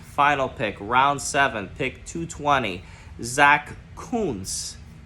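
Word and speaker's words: Zack Kuntz: round seven pick 220 Zach Coons get that right let's say it again Zach Coons there's some Jets podcasters out there that are pronouncing it a different very inappropriate way but that's how you say it Zach Coons tight end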